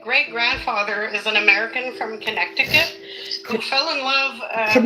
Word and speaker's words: Connecticut: Yeah, we say Connecticut. It's It is spelled Connecticut, but we say Connecticut, but it's not connect.